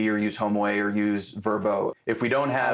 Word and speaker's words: Vrbo: It doesn't matter if you use Airbnb or use HomeAway or use Verbo. If we don't have... I like how you just pronounced it using the new the new pronunciation.